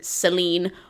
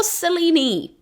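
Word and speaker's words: Selene: Athena to Hestia and to Seline or Selen it really depends on how you pronounce that I have always said Seline and the more classicist I hang around the more I realize that we are divided on the pronunciation of this so go with whichever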